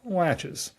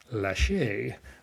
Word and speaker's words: laches: the equitable doctrine called latches. Latches rhymes with latches like a door latch. Even though I was in a hearing one time in Atlanta where a federal judge said it is pronounced lache with a French accent, which does sound fancier.